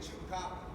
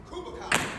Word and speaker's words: chupacabra: How to say it, chupacabra. That is how you say it, right? Every take, I think we had to do it over and over again because I continue to say Kubacabra.